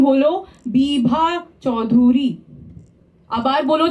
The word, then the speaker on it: বিভা চৌধুরী: এটা বিভা চৌধুরী নয়, সঠিক উচ্চারণ হলো বিভা চৌধুরী.